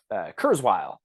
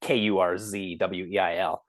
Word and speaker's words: Kurzweil: Kurzweil, and I think that's how it's pronounced. It's like Kurzweil.